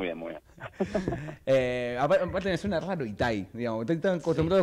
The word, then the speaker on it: Itai: Sí, quiero decirte que la mayoría pensaba que tenía el acento en la I final, así que salí victorioso. Sí. Muy bien, muy bien. Aparte me suena raro Itaí, digamos.